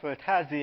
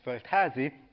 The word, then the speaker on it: Földházi: of you here in Los Angeles I'm felazi and uh actually I devoted this session to teach Alison how to pronounce my name but actually she got it